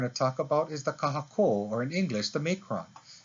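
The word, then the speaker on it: kahakō: elongation of the vowel kahako versus kahaku can you hear the difference kahako kahako with one kahako without one kahako so elongates the sound of the vowel affecting the pronunciation but it also changes the meaning of the word itself for example lolo versus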